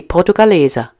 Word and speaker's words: Portugaleser: Well, the correct pronunciation would be portugaleser, meaning coins from Portugal.